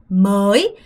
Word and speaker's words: mới: mới. 여러분 얘는 발음하실 때 먼저 얘부터 발음해야 돼요. mới. 이거는 진짜 조심하셔야 되는 게 뭐냐면 요 발음과 여러분 명확하게 구분하셔야 돼요.